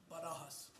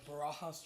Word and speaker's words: Barajas: I'll make you say it like my coach, Barajas. Got it. So it's, State I'm your- part of Helotes. Go ahead and state your name and Barajas, or Barajas for y'all.